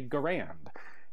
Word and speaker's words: Garand: And the section of the letter he has enclosed says, so, an initial G hard, as in go, first A short, as in Harry, second